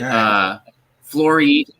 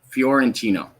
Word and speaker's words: Fiorentino: So, I want to make sure I'm getting the pronunciation right. Is it Flori? Is it Florino? Fiorentino? Fiorentino.